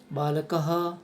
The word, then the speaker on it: बालकः: तो यथा में देखते हैं बालकः शुद्ध उच्चारण होता है, या जो विसर्ग है, विसर्ग को हम है का उच्चारण मानते हैं, तो जो विसर्ग है उसे है बोलेंगे। बालकः पूरा है नहीं बोलना है।